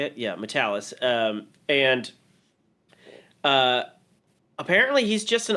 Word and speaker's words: Matalas: Yeah, Matalas.